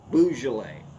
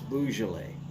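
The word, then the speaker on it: Beaujolais: top of my head that's bo joo loss boujole that's how it's actually said is boujole and no it's not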